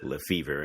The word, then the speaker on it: Lefebvre: So people hear me say Lefebvre.